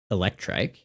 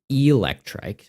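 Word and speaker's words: Eelektrik: I keep saying Electri and it's not. It's Electri like an eel because there is a Pokemon named Electri. Like did did they forget that they made this.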